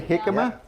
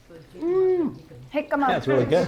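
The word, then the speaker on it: jicama: So you can again hikima, but it's spelled with a J. With a J. J I C A M A. Interesting. Hikma.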